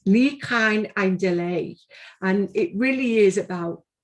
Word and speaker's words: Ni Chawn ein Dileu: i'm from liverpool so the way i pronounce it is a challenge to me but i'm going to give it a go it's lee khan and delay and it really is